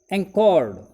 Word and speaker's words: anchored: वी एंचोर्ड, ध्यान दीजिए pronunciation की तरफ। इफ वी डू any mistake then pay attention again. We read again. We एंकॉर्ड, ANCHORD, offshore for the night, रात हमने तट से कुछ दूर लंगर डाली बिताई।